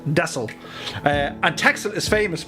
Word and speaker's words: Texel: of the mainland called desel or it's spelled texel but i think they pronounce it dessel uh and texas is